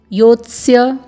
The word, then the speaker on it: योत्स्य: फिर यहाँ पर आप देख रहे हैं य में ओ का स्वर है, फिर अर्धवर्ण त है, फिर अर्ध दंत्य स है, फिर पूर्ण वर्ण य है। तो आपको इसका उच्चारण करना होगा योत्स्य, आपको योत्स्य में रुकना है।